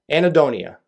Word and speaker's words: anhedonia: way i also wrote down the way it's pronounced so i don't mess this up it's called annie donia anaedonia nailed it uh it's a word that describes